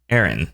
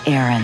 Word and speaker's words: Aran: name is pronounced Aran the pronunciation of samus's surname is confirmed to be Aaron Sam is Aaron kotake said quote in